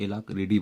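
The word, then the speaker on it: alacrity: Meticulous या फिर एलाक्रिटी। हालांकि इसे एलाक्रिडी बोलते हैं, टी है लेकिन प्रोनाउंसिएशन में डी आता है।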